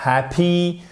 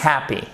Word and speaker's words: happy: Ce n'est pas happy, c'est happy, happy, happy, happy.